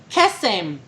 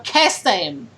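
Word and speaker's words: קסם: Magic in Hebrew, because I'm only bilingual, in Hebrew, magic is kesem. Kesem. Kesem. Kesem. Kasim. Kesem. Kasim. No, it's not kasem. It's K as in kettle, E as in elephantitis, S-E-M. So kesem.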